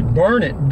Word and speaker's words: Burnet: It's actually Burnet, darn it, can't you learn it? It's spelled B-U-R-N-E-T.